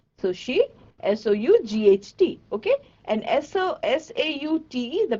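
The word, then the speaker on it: sauté: And S-A-U-T-E, the pronunciation is actually saute.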